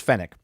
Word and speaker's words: Fennec: uh his his henchman is it pronounced fennick yeah it's fennec so fennek wakes him